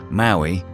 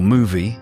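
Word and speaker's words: Mowi: biggest salmon farming corporation Maui or movie as is correctly pronounced is deeply personal.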